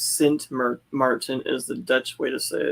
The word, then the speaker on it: Sint Maarten: Nancy says Sint Maarten is the Dutch way to say it.